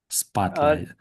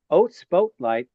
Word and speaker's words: spotlight: Um, you don't say oh spolight. That would be a a long that would be a long pronunciation of that vowel spotlight is ah or is actually like how that would be a short pronunciation of that vowel the letter o in that word.